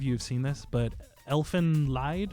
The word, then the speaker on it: Elfen Lied: have seen this, but Elfen Lied, or Elfin Lead. Elfen Yeah. Lied. Yeah, I never pronounced that correctly on the first try.